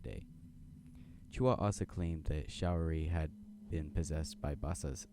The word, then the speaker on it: Showery: her roommate Alan showery showery it's a shower with a Y showery had been possessed that